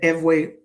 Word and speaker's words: Ewe: The Eway or Fawn language, Ew, pronounced Eway, Fawn, Fo N.